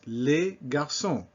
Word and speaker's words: les garçons: Les garçons. No problem, that S is silent.